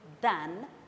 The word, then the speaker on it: than: one is more adjective than or less adjective than the other. A comparative degree sentence contains the word than. Please note the correct pronunciation, than.